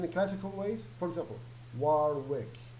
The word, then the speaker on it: Warwick: like as in the classical ways for example Warwick like how it's worth but actually it's pronounced work so the devil here will not really pronounce